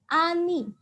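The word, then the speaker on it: 아니: dibaca nih Bacanya apa bacanya adalah Ani A ni oke ya aku tuliskan disini Ini dibaca a kemudian yang ini dibaca nih oke masih kurang satu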